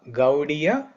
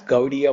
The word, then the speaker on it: Gaudiya: So Bengal people, they don't pronounce certain letters. They can pronounce Va. Instead of Va, they say Ba. Instead of Ra, they say D or Da. Instead of Ra, they say Da. So Gauri became Gaudi. So Gaudiya. Gaudiya Vaishnava means those devotees who worship Radharani.